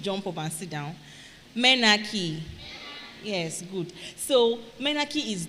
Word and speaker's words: menarche: Menarche. Menarche is spelled M-E-N-A-R-C-H-E. M-E-N-A-R-C-H-E. That's the word menarche. Menarche.